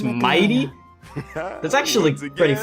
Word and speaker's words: Mydei: I've been saying Mydei. It's Mighty.